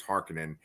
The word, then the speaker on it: Harkonnen: how I pronounce I I always used to say harkonen but now everyone says Harkin in um but like Josh